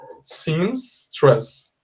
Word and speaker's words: seamstress: okay you say stress pay attention to the pronunciation seems stress costume this seamstress was